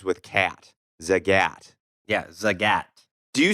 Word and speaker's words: Zagat: talking about the what we were calling the Zagat guide, Z-A-G-A-T.